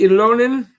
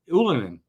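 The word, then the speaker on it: Ylönen: one is right Jessie ilonen um and that's not how it's pronounced anymore anolin and Jordan Harris are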